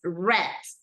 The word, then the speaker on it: read: the pronunciation it's R in past participle it's read okay just like the color like this this is